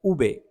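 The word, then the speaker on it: uve: को कहते हैं उ उबास उबे वी को कहते हैं उबे और इसकी बी की आवाज होती है बासो वासो नहीं है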